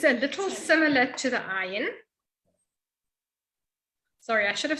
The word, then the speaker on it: ayin: It is a little similar to the ayin. Sorry, I should have said earlier when I was talking about things that sound the same, that the aleph and the ayin sound the same, they're both silent.